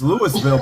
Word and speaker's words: Louisville: It's Louisville, but they pronounce it Louisville. Oh, hey Eddie, and I'm like, I'm about to be in Louisville. Yeah, they say this Louisville. weekend. They forget about the IS.